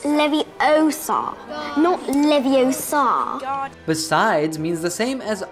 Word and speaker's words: Leviosa: someone's eye out besides you're saying it wrong it's leviosa besides means the same